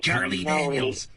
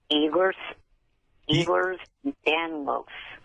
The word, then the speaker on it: Ehlers-Danlos: It would be nice if you would pronounce it correctly. Charlie Daniels. How do you got Charlie Daniels disease? Here's Charlie Daniels disease. What is the disease? Ehlers-Danlos.